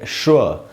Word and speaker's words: schwa: अच्छा दोस्तों, आप इसकी स्पेलिंग तो देख ही रहे हैं, SCHWA, और इसको पढ़ेंगे श्व, द श्व साउंड, ऐसे इसको पढ़ना है।